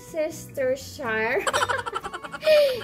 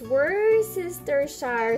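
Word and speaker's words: Worcestershire: the worship taught or sisters Shire it's a it's really hard to pronounce this guy's it's were sister Shire sauce and rice you know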